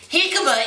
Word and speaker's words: jicama: do a hick how do you say this jikama jicama is a starchy rooted vegetable it's kind of